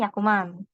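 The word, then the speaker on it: 百万: 100 dalam bahasa Jepang kan dibacanya Hyaku gitu. Jadi ini Hyakuman gitu.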